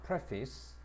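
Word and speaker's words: preface: 앞에 프레를 붙이게 되면 페이스가 피스로 바뀝니다. 발음이 그래서 또는 머릿말이라고 할 때프스라고 발음을 해야 돼.이 발음을 좀 잘 봐야 됩니다. 자, 다시로 한번 봐라. Pref피ice라고 발음합니다. 프피스.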